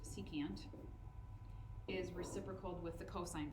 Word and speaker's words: secant: okay on that same note SEC which is pronounced secant is reciprocal with the cosine value so if